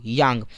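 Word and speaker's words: kyang: यहाँ पर के साइलेंट यहाँ बोलेंगे यांग।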